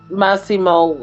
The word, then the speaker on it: Massimo: Massimo, I was hoping that he would get him, but I just hate it when the bad guys get away.